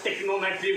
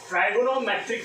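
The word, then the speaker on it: trigonometric: ट्राइगोनोमेट्रिक function कई student usually इसको टेक्नोमेट्री word बोलते हैं, तो ऐसा कोई वर्ड नहीं होता टेक्नोमेट्री। तो इसका जो एक्चुअल प्रोनाउंसिएशन है वो है ट्राइगोनोमेट्रिक फंक्शन।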